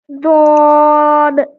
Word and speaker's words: ضاد: কি তারা বিলকুল নেহি, অর্থাৎ দদের উচ্চারণ দালের মতো একদমই না, ঠিক আছে। হ্যাঁ তো আমরা জ এবং দাল এর মাঝে একটা অক্ষর উচ্চারণ করব, ঠিক আছে। আচ্ছা। ضاد দদ ضاد দদ বদ রবে বলেন ضاد বদ।